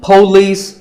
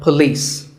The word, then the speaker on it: police: This isn't police or polis. It's pa and lis with the stress on lis. So police.